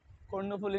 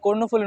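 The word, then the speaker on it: কর্ণফুলী: ওজন হবে কয়েক টনের তো বেশি কয়েক টন কর্ণফলি নদী জানেন তো আপনারা যে কর্ণফলি নদী এ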